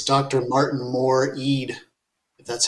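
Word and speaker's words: Martin Moore-Ede: Martin Moore Eade, if that's how you pronounce his name.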